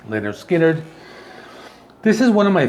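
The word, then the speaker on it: Lynyrd Skynyrd: with their debut album called pronounced leonard skinner this is one of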